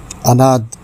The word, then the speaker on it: عناد: میں حاضر ہے ایک اور لفظ لے کر۔ تلفظ ایک لفظ روزانہ میں، اور آج کا لفظ ہے عناد۔ درست ہے، عناد غلط ہے۔ اس کے معنی ہیں دشمنی، عداوت،